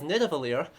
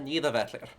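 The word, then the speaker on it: Niðavellir: are picking up in what atrey is incorrectly um pronounces as nitivalir and everyone else more correctly calls uh neither vetler uh so I suppose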